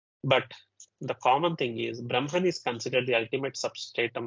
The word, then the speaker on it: Brahma: The word Brahma, B-R-A-H-M-A, even though it is written as HMA, it is to be pronounced as MHA, Brahma.